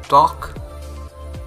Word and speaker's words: talk: precious delicious religious the word that is a l k that means silent hair like talk wonk chalk and stock so repeat